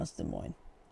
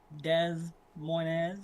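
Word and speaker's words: Des Moines: I know it's from De Moines. It is interesting how it's not like pronounced Dez Moz or however some people like to call it as a joke.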